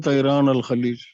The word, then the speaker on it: طيران الخليج: Gulf Air is called Tairan al Khalij. It is Yes.